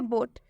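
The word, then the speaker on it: boat: बोट में भी same वही है, ओ है और ओ के बाद से ए आया है, और जब भी ओ के बाद से ए आएगा तो इस ओ का उच्चारण ओ से हो जाएगा, मतलब कि ओ की मात्रा से हो जाएगा।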